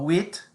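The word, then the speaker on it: huit: the end no no oh wheat remember that it's um silent h u-i-t wait and also rhymes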